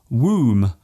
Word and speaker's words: womb: For example, the B in comb, womb and bomb.